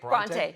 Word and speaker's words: Bronte: Bronte, yeah.